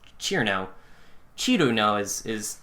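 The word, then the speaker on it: Cirno: Yeah, it's not Cerno. It's not Cerno. It's Cherno.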